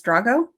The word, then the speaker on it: Drago: yeah so this is I'm gonna say his name wrong and you're gonna correct me Drago Drago is it Dr a Geo yes Drago Drago Drago and Sienna I